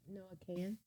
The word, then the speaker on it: Noah Kahan: Noah Kahan.